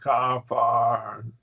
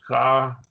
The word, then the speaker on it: Capernaum: Kaparan, Capernaum. See, ah sounds Capernaum. So there are your three syllables. Capernaum. Kafarnam. no. Capernaum.